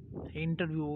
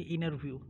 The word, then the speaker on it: interview: And the same thing with interview. We Indian call it interview, but in American it is T, never pronounced. So you see inner view. Inner view.